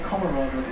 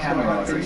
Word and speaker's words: camaraderie: I say camaraderie. Well, you're saying it wrong. It's camaraderie.